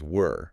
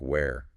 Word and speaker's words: were: But can we stop for a second on the pronunciation of that word? W-E-R-E? Were. A lot of students say it like where. You know, the question word. Where are you?